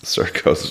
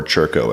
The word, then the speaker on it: Circo: Circo's Focaccia bread. is amazing. Yeah. Though I would death by If carbs. you haven't been to Circo, or Churco as it's supposed to be pronounced, on it is, 180th and Q.